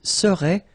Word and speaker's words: serait: So final T is not pronounced. So phonetically, you've got the same form as we had previously. Il serait, elle serait.